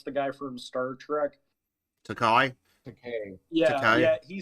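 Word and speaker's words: Takei: George, how do you fucking pronounce the guy from Star Trek? Takai.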